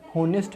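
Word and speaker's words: honest: तो आपको यहाँ पे याद रख सकते हैं कि डाउट में बी का उच्चारण नहीं होता है, उसी प्रकार से होनेस्ट में एच का उच्चारण नहीं होता।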